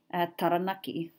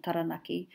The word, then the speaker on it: Taranaki: And you can hear in English that mispronunciation of taranaki, even the A sound changes in English. Whereas very user-friendly in Māori, the A sound stays the same.